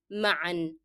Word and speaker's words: معا: And again, this word has to be pronounced with the sound of n, that of tanween in all cases, whether you stop on it or not, because it's a part of the word. So together means معا.